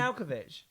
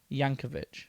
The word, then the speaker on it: Yankovic: Weird They- Alkovich. Weird Al Yankovic. That's what I meant. You Weird make his. Al Yankovic. You take out so many syllables.